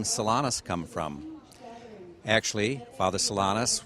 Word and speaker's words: Solanus: And so he was given the name of Francis Solanus, or Solano would be another form of pronouncing it.